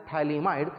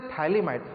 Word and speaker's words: phthalimide: So this is a phthalimide. For your reference, I will write the name of this one. P is silent here, you should spell it as phthalimide. So phthalimide, when it is treated